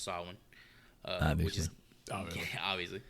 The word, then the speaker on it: Samhain: Obviously pronounced Samhain.